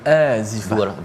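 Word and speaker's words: آزفة: Ini untuk mengingatkan kepada kita, wa anzirhum, pada ayat yang ke-18, berilah peringatan tentang yaumal, macam mana bacanya Ustaz, azifah ke azifah? Yaumal azifah. Dua harakat. Dua harakat ya.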